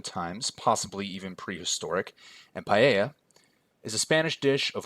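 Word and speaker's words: paella: Spain since pre-roman times possibly even prehistoric and paa is a Spanish dish of rice saffron chicken or seafood cooked and served in a large shallow pan I hope you enjoy my pronunciation of paa my wife made sure that it was correct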